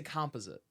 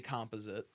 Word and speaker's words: composite: you pronounce it see om p is ite composite yeah it's conp oh my bad I don't know how I that off so I say composite its composite and the reason I say composite is because when I first started playing hockey